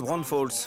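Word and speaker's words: Braunfels: va descendre à New ça se prononce Bron Falls Bron Falls oui prépare-toi ça va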